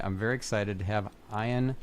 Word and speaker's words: Ian: let's just get that out of the way because, you know, it's Ian, not Ian.